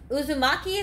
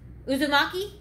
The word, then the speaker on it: Uzumaki: last name it's a it's a uh naruto uzumaki is that how you say that heart how do you say naruto's last name uzumaki yeah anyway it's a uh uh anime cartoon